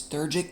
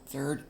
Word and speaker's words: Theurgic: And I'm totally going to mispronounce this probably, but it's Theurgic magic. Theurgic.